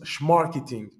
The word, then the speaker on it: Smarketing: a inventé le mot Smarketing. Pour la petite anecdote, je l'ai rencontré en 2018 à Boston et il me disait les Américains prononcent Schmarketing. Et je vous donne cette